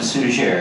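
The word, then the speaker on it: Suger: Abbott came in place whose name I pronounced as suzier it may have been sujay I understand from my French linguist trends that the final consonant was dropped over time and may have been still used in those earlier days so I call him sooner let's agree on that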